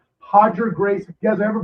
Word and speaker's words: Roger: It's spelled Roger pronounced Hodger like Royce Gracie is like with the R should be Royce. Hodger Gracie.